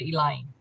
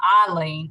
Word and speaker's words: Eileen: and i have explained please call me eileen when you pronounce it if you're especially if you're going to talk to text if you say eileen it will type in e-i-l-e-e-n and i will answer